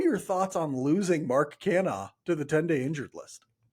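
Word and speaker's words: Canha: Mike, what are your thoughts on losing Mark Cana to the 10day injured list? My thoughts are you never say his name correctly, and I still find that hilarious. It's just Cana. It's Mark Cana.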